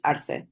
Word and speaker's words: Arce: case but an so the pronunciation is lu arce um him him and his uh oh administration stack those courts with right-wing judges Um, right.